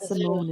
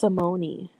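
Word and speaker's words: Symoné: for so many years it's not Simone it's Simoni I was like oh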